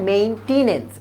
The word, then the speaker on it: মেইনটেনেন্স: এটা কিন্তু এরকম না মেইনটেইন কিন্তু এখানে নাই এখানে আছে মেইনটেনেন্স এটার উচ্চারণ হচ্ছে মেইনটেনেন্স